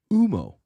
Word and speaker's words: Humo: better job than me UMO the H is silent listen to the uh